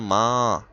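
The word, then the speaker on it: ماں: এখানে মা এর পরে মিম আলিফের পরে একটা নুনে গুন্না আছে। এজন্য মা নাকে নিয়ে পড়তে হবে। মা উচ্চারণটা খেয়াল করো।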